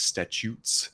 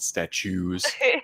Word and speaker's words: Statutes: swords and statutes um that is statutes not statues no one can ever spell it um but uh